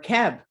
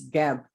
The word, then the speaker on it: Geb: Or Keb, or Seb. But the pronunciation is Geb.